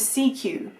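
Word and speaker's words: Sekyw: in this one was CQ, which obviously when I'm saying it to you going, oh, it's a C and a Q put together, how clever, but it is spelt S-E-K-Y-W.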